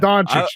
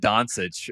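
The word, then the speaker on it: Dončić: yes right it's not Donuch you guys are all idiots it's like yeah Donuch I said I said Donsich when he first came out and everyone's like, "You're an idiot."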